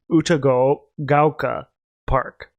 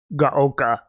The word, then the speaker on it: Uchugaoka: I think it's Uchugaoka Park, not Gaoka.